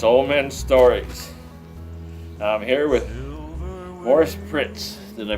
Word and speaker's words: Maurice: I'm here with Maurice Pritz. Did I pronounce it correct? Yep. Wow! My mother spelled it Maurice, and she called me Morris.